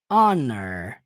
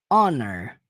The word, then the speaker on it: honor: a próxima palavra an Honor percebam que a primeira tem som de ra House e a segunda o h é mudo literalmente o primeiro som é o Honor tanto que você pode